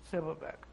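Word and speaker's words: Silberberg: And my maiden name was S-I-L-B-E-R-B-E-R-G, Silverberg.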